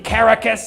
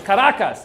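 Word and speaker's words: Caracas: We're now going to run Venezuela in Caracus." He calls it caracus. It's like it's karacas, dude.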